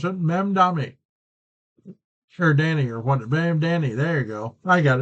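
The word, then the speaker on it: Mamdani: Mand Mam Dami. That's how you pronounce it. Mami Danny or what? M Danny.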